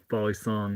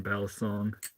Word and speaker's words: balisong: we doing mustard cat I call it a BAL song yeah yeah and I'm trying to encourage people to SW switch to calling it you know balong the right pronunciation for it rather than balisong that is most common in the US for Flippers to call it I I'm